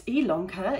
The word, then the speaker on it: Ilonka: name is ilonka yes it's ilanka it's spelled with an eye but pronounced with an